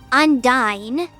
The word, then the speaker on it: Undine: That's the most garbage pronunciation ever. And then, I think it's Symphonia or some game where they say Undyne.